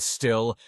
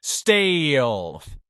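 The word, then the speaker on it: Stihl: While some people will say that still, the correct pronunciation is steel.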